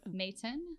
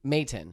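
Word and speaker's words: Maton: company called matin guitars um what's it called mayton mayton yeah how do you spell that m-a-t-t-e-n m-a-t-o-n oh at mayton okay yeah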